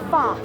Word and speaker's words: pho: Michelle, we're making Vietnamese beef stew, or pho. P-H-O is how it's spelled.